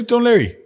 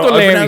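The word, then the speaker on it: Dún Laoghaire: O'Leary, yeah, so Dunleary. Oh, yeah. I I'm pronounce from it Dunleary, so- O'Leary.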